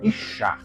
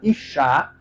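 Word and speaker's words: אישה: No hebraico se fala Ishá quando você quer pronunciar mulher. Agora, quando vai pronunciar homem em hebraico é Ish. É verdade, no hebraico se pronuncia mulher Ishá. E homem é Ish.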